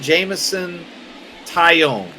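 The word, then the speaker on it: Jameson Taillon: But we're going to bring in Jamison Tyone.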